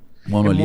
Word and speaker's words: monolito: Monolito. Monolito ou monólito? Já ouvi as duas pronúncias, né? Eu sempre falei monolito, mas tem gente que fala monólito.